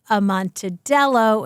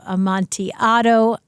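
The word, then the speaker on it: Amontillado: of Jeopardy referring to when she said a manello instead of am Monti AO tough tough moment there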